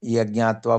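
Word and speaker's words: यज्ज्ञात्वा: सो pronounce करने के time हम यज्ञात्वा बोलना है। इट is form of two words यत एंड ज्ञात्वा इट इज करेक्ट।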